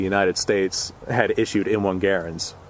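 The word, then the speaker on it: Garand: had issued M1 garens I'm sure somebody's going to yell at me at some point for saying M1 Garen instead of M1 grand the guy name was Garen but the military pronunciation was Grand so I don't care how you decide to pronounce it I'm going to pronounce it Garen because that's the guy's name all now as I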